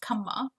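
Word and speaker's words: क्षमा: And it comes from the Sanskrit shama. So shama became kama.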